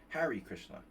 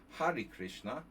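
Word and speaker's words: Hare Krishna: So the Har Krishna or Hari Krishna sorry Hari Krishna Har Krishna very American pronunciation Hari Krishna um we're normally going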